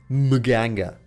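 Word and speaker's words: Mganga: mask is good on my Ganga yeah that is his name and that's how you pronounce it I already know that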